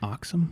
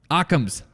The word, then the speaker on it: Occam's: what i'm talking about the oxime box comes razor it's razor i'm saying it wrong um occam's occam's razor oh okay where basically